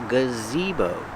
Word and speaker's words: gazebo: a building it's a gazebo that's right the name is gazebo the first sound is the relax then you have the long e z beau use the long o like